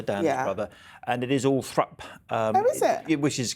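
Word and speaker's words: Althorp: asked Earl Spencer Dan brother and it is all thra um is it which is kind of the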